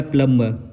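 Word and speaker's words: plumb: इसका क्या हो जाएगा प्लम प्लम ये जो ब है वो निकल जाएगा वो साइलेंट हो जाएगा तो इस तरह के अगर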